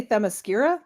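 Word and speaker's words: Themyscira: well I say don't I say themos skira that's usually what I say is that bad I I don't know earlier I didn't hear the hard C but who cares who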